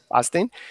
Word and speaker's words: Basting: It's at Basting, if I'm pronouncing that correctly. Boston. I want to say Basting, yes. Basting.